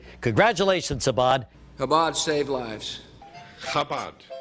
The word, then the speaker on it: Chabad: Chabad. Did I get the cha right? The Chabad Telethon. Say cha. Cha. Cha, there you go.